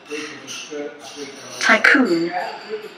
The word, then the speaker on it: tycoon: significato della parola Tycoon, che si pronuncia appunto Tycoon. Tycoon. Così sì.